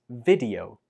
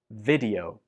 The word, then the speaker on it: video: A common mistake is to pronounce this like video with a long E sound on the first syllable. But that's not correct. It's much better to use the short E sound on the first syllable like this.